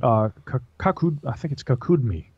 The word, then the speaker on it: Kakudmi: The Mahabharata, and the story of King Kakudmi is how it's pronounced, but he describes going to heaven to meet Brahma.